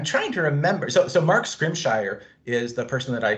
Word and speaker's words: Scrimshire: Mark Scrimshire.